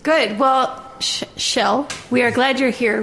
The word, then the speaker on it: Kjell: My name is Shell. Like you'd find me on a beach. 3 letters are the same. That's right. Right? Good. Well, Shell, we are glad you're here with us at the podcast.